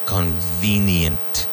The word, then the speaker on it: convenient: Convenient. Convenient. And remember, to get that V sound in English, your teeth need to hit your lower lip.